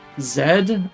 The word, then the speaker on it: zmrzlina: Smrzlina is a real word. I'm not saying it quite correctly because it's hard to switch into pronouncing a foreign language correctly, but it's Smrzlina. Zmrzlina.